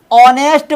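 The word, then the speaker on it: honest: ऑनेस्ट मैन, ईमानदार व्यक्ति, इसमें जो है एच क्या है, साइलेंट है।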